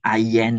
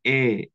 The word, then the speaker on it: aient: Ya, ini tuh AIENT itu disebutnya E, sama seperti je, tu, il, elle yang singulier. Tolong ya menjadi perhatian ya. Jangan sampai ayen, ayen, ayan. Bukan. Ini bacanya E.